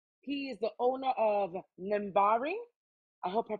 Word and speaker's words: NAMBARII: How do you pronounce it? NAMBARII, just like you said it.